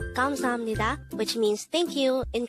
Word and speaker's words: 감사합니다: 감사합니다. And with that, you've just learned 감사합니다.